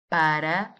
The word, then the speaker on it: para: Now, if you notice, we have 2 A's in the word for. Para. They are both pronounced as an A sound, as in the word aceitável, remember? The unstressed A sounds like the A in the English name Monica, for example.